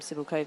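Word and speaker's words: Cibulková: like it as over so um cibil COV says I like cibil COV which is more kind of I think a western edge on it I think we would always say like Shar POA um and but then others you know would call her Cula because that's maybe you know more like the Slovakian but she says no I'm civil K I mean it's just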